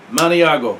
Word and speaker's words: Maniago: out of italy um i think it's uh mongi let me see does it say here yeah maniago is how you say that montiago and they are that